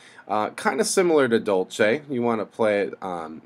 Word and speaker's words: dolce: a lot of excitement to the notes okay Dolce is how that next one's pronounced and that means sweetly that means to